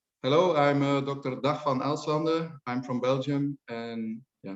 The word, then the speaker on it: Dag Van Elslande: help us with your name hello i'm dr dahfan alzander i'm from belgium and yeah my name is not so easy to pronounce okay so are you a do you